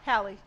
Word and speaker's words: Halle: Do you pronounce her name Halle or Haley? I don't know. Halle.